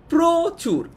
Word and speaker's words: প্রচুর: ঠিক আছে, আচ্ছা তারপর আবার আরেকটা এক্সাম্পল দেখি, প্রচুর। আমরা কিন্তু প্রচুর বলছি না, আমরা কি প্রচুর বলছি? আমরা কিন্তু বলছি প্রচুর। তার মানে অটা ও এর মতো উচ্চারণ হচ্ছে, এই কারণেই আমরা বলছি এটা হচ্ছে সংবৃত উচ্চারণ।